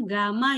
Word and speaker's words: Gamma: yang terkena zat cair ini bacanya Gamma ya teman-teman bukan y ini Gamma Bukan nih jadi hati-hati ya oke